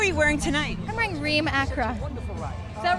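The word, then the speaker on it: Reem Acra: It's Remma Acra.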